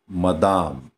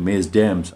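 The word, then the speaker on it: Mesdames: याला आपण लगेच तुम्ही मेस डॅम्स असं वाचू नका त्याला मदाम किंवा मेदाम. मदामचं काय झालं मेदाम. याचं प्रोनाऊन्सिएशन मदाम आणि याचं प्रोनाऊन्सिएशन मेदाम लक्षात ठेवायचं.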